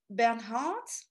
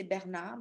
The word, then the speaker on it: Bernhardt: what people say the last one is sarah bernhardt so i know in english you say bernhard but in french we say bernard because we don't pronounce the age sarah bernard